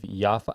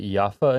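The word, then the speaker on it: Yafo: when on Google Maps is Tel Aviv named Tel Aviv Yaffa? I think you pronounce it Yaffa in Hebrew, Y-A-F-O. I think it's Yaffa.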